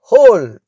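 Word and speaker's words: whole: who ஹோல் இந்த வார்த்தையில் முதல் எழுத்தானடயூ உச்சரிக்கப்படுவதில்லை. ஆகையால் ஹோல் என்றே நாம் உச்சரிக்க வேண்டும்.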